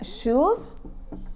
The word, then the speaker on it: should: Remember, children, should, we don't pronounce this letter. Should.